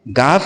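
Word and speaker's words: گِ: यह है गाफफ़। गाफ के नीचे ज़ेर की मात्रा है। ज़ेर की मात्रा के आ जाने से अब इसे गाफ नहीं पढ़ेंगे बल्कि इ के रूप में गी पढ़ेंगे।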